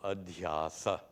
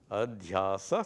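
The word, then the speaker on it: adhyāsa: looks seems more simple adasa adasa three syllables versus superimposition six proving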